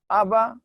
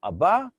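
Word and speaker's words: אבא: Here it's letter Aleph. It is a silent letter.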